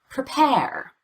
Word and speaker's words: prepare: Prepare. Prepare. Unstressed syllables are often very confusing as far as spelling.